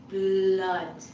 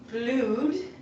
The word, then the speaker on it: blood: It's difficult because you have the b, l, and the and d, d, d. So it's not blued. It looks like it should be blued, but it's actually I'd spell it like this: blood. Ding, ding, ding, ding. So blood. If you can say blah, blah, try blood.